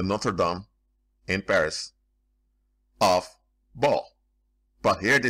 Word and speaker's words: Baal: Baal worship, in English is Baal, and in some some place in Britain say Baal. But this, I'm going to say, use the exact pronunciation that the Phoenicians and the Greeks use, Baal.